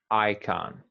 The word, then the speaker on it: icon: come yeah and and we emphasize the first syllable just emphasize i icon icon okay icon so